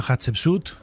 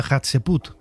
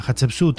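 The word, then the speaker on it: Hatshepsut: Yo de de pequeño, aún siendo un joven eggolco, decía Hatsut, hasta que un día me puse a leer las letras correctamente.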